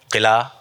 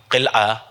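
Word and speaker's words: قلعہ: तो 3 चीज़ें हमने आपके सामने पेश की, दफ़ा, किला, जुमा, ये सब गलत है, ये प्रोनाउंसिएशन ही नहीं है। इसका सही तलफ़ुज़ है, सही, मैं सही नहीं कह रहा हूँ, सही तलफ़ुज़ है जुमआ, क़िलआ, दफ़आ।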